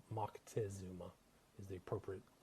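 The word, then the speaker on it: Moctezuma: Aztec empire, a guy by the name of Mcktazuma or Montazuma as they say here in the states, but it's Mckesuma is the appropriate pronunciation.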